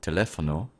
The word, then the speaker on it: teléfono: For example, in teléfono, telephone, the second e has the most stress.